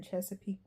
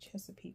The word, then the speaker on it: Chesapeake: Uh I'm here in Chesapeake Bay.